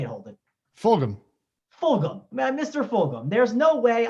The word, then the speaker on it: Fulgham: Fulgham.